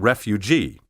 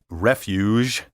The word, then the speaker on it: refuge: instead they say siege refuge and refugee the problem here is the letter g which should sound like the g in cage and regiment not like the g in collage be careful to say